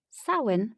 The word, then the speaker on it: Samhain: Samhain, pronounced Sow-in, translates to summer's end.